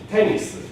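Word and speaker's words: テニス: In this case, I hit the accent on the very first one. So I don't have a low and then it goes up. It just is high and falls right from the very beginning.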